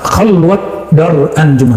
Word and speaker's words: khalwat dar anjuman: Nah, khalwat dar anjuman, bukan khalwah, ya. Orang Persia tidak bisa baca di dalam pelafalannya, walaupun di hari-hari bisa.